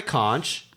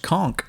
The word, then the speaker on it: conch: you I have the Conch I have it right in front of me out that's right I'm going to go with it's actually pronounced conk I was about to